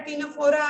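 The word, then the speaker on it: Ctenophora: तो मान लो जैसे कि मान लो पोरिफेरा है, सिलेंट्रेटा है, टीनोफोरा है, यहाँ पे ये सी साइलेंट होता है, ठीक है ना, टीनोफोरा है, प्लेटीहेल्मिन्थेस है, एस्केहेल्मिन्थेस है, ये सब इनडायरेक्ट है।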